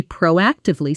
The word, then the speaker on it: proactive: Example, instead of waiting for the client to ask about the delay, she proactively sent an update explaining the situation and the new timeline. Pronunciation proacive stress on the second syllable.